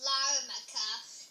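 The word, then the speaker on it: Larnaca: strong muscle said my name is pronounced larmacha I'm in South Eastern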